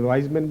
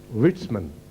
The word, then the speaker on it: Weizmann: उनमें एक केमिस्ट थे जिनका नाम है वीज़मन पढ़ा जाता है, वाइजमैन भी शायद मैंने पढ़ा था लेकिन मैंने चेक किया है, प्रोनाउंसिएशन जर्मन है, विट्समन, WEIZMANN।